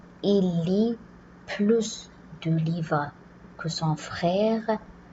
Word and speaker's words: plus: Si plus est suivi d'un nom commençant par une voyelle, on va faire une liaison, donc on va prononcer plus.